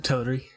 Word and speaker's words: Teleri: Yeah, the Teleri.